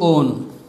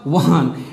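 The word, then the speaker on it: -one: তো নামকরণে যেতে চাই, ওর নাম হচ্ছে পেন্ট টু ওন। তোমরা বলবা ওয়ান, অ্যাকচুয়ালি ওয়ান না, বানানটা হচ্ছে ওয়ান বাট উচ্চারণটা হচ্ছে ওন।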